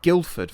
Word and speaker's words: Guildford: don't know many places like guildford for example it's a hard g same with greenwich um